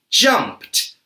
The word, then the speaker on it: jumped: Can you hear the T sound at the end of the word? Why do these past simple verbs make a T sound?